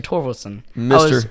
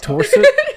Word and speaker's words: Torvaldson: Can you spell that last name? Torsot. Torsot. That's Torsit. Torsit. Yep. Torso. It's a long story. Okay. What was the actual name again? Torvaldson. No, it's a D.